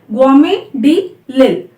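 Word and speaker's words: Guillaume de l'Isle: map was made by Guillaume de Lille. So it's quite difficult to pronounce because it's a French name and where the double L is pronounced as Y.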